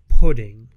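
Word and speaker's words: プリン: translation spelling of it makes it look like it says purin but if you use like actual japanese pronunciation an accent it kind of just comes out sounding like the word pudding putting pudding pudding pudding i guess it's close enough as i said though dairy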